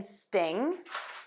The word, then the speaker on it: sting: In sting, we have one syllable or one beat in this word.